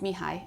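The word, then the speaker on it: Mihaly: this guy his name the first name is pronounced me hi and I'm not even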